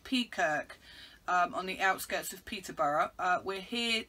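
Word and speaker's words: Peakirk: ruddy duck pub in i think you pronounce it peacock on the outskirts of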